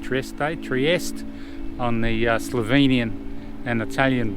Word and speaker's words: Trieste: a limestone plateau near Trieste, I think is how you say it, Trieste, on the Slovenian and